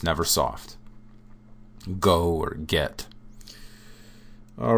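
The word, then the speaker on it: Г: And the first one, we've got a, be, ve, is ge. Okay, this is a hard G sound.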